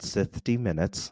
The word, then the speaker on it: Sithty Minutes: Yeah, the podcast is called Sithty Minutes. Sithty. Okay. So Yeah. like 60 but with Sith.